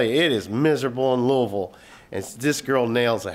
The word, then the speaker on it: Louisville: I was in Loui- and that's how you pronounce it, Louisville.